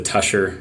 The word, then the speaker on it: Tushar: has called it the two shower jacket it's we pronounce it here in southern utah as the tusher rain jacket uh so i guess